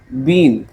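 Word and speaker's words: bene: root word सिखाता हूं बी ई एन ई बीन या तुम सिंपल बोल लो इसको बेन बोल लो कहता है इसका मतलब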